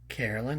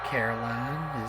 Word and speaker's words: Caroline: Carolyn, are you here? By the way, is it pronounced Carolyn or Caroline? Yeah. Yeah. Caroline, is that what it is? I think I was mispronouncing it.